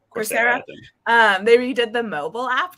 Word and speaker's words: Coursera: Redid the Coursera. That's how you pronounce it, right? Coursera.